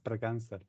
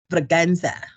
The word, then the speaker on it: Braganza: It's Braganza. That's Portuguese. Braganza.